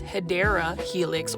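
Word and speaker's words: Hedera helix: And then over here, we've got a Hedra helix or um the correct way to say it is hideera helix or the English ivy.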